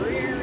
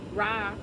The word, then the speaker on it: Ra: I'm gonna make it real quick. It says, the perfect time is now. Say yes and show up. Ra, pronounced Ra or Re, was the god of